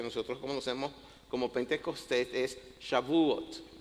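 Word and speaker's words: Shavuot: Y el nombre original de esta fiesta que nosotros conocemos como Pentecostés es Shabuot, así se pronuncia en hebreo.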